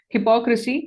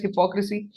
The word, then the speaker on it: hypocrisy: That is what we can call as hypocrisy. Though it is not hypo when we are pronouncing it, the spelling still remains there.